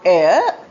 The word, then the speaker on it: heir: A i air. The meaning is the atmosphere which we breathe. What is there all around us? The gases. H E I R also pronounced as air is a person who inherits the property of ancestors.